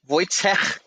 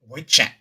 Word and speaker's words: Wojciech: I mean, I think his name is actually pronounced Wojciech. Wojciech.